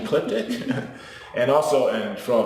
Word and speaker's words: Ecliptic: through um but that people might have a problem with spelling it or pronouncing it like elliptic but i think once they actually can see that to see that it's actually ecliptic and also and for